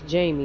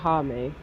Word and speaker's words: Jamie: That nigga's name is Jamie, not Jaime. Maybe one of them is his first name. No, I mean that's how you would pronounce it in Spanish.